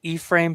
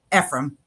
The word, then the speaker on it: Ephraim: Is it E-frame? Ephraim.